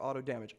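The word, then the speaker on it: AutoDMG: I people started using auto damage now you go is it auto dimming or auto damage I have it from the creator's mouth himself he likes it to be pronounced auto damage so do people here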